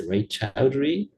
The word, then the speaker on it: Raychaudhuri: it's Raychaudhuri, the Majorana-Raychaudhuri seminar series. Is that right pronunciation?